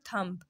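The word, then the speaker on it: thumb: ये क्या वर्ड है थंब ये थंब लिखा हुआ है ना टी एच य एम बी लेकिन इसको हम क्या पढ़ेंगे इसको हम थंब पढ़ेंगे बी को हम यहां पे क्या कर लेंगे साइलेंट कर लेंगे साइलेंट का मतलब क्या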